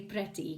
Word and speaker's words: pretty: kitty cat and pretty so I know you're dying to say pretty because it's got an e in it but it's actually kitty e from the earth on the fish sound yeah a pretty and